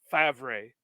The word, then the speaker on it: Favre: My conspiracy theory, my biggest Packers name conspiracy theory is surrounding Brett Favre, because you explained to me how it's pronounced Favre the way it's spelled.